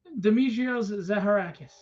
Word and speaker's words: Dimitrios Zaharakis: further Ado and I know I'm probably gonna pronounce this wrong just because I'm not great with uh names but dimitrios zaharakis hey thanks for having me you did great